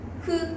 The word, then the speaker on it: ふ: ふ。そしてへ、ほです。は、ひ、ふ、へ、ほですね。は、ひ、ふ、へ、ほ。皆さんもは、ひ、ふ、へ、ほ。